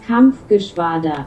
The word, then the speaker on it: Kampfgeschwader: La KG-200 se prononce Kampfgeschwader.